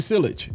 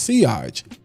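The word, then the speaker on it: sillage: It's got crazy silage." No, it's actually pronounced seage.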